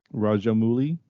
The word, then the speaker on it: Rajamouli: Rajamouli. Is that Got it. Oh, cool. I mean, I think it's. I don't think the oo is pronounced as an oo. I think it's an ow.